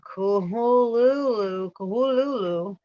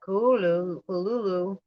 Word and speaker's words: Cthulhu: Lovecraft transcribed the pronunciation of Cthulhu or Kuhululu. That's why he said it like that. Kuhululu. Oh, it's funny. And said the first syllable pronounced gutturally and very thickly.